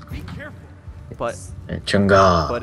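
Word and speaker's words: Chang'e: changa yeah you see now you're saying it right chunga beautiful oh I you're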